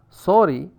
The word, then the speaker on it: sorry: Therefore, sorry, the word sorry, it rhymes with story rather than with starry.